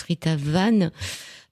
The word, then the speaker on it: Rita Van: voyage de Rita Van, qui se prononce Rita Van, R-I-T-A-V-A-N, et c'est 12 chats,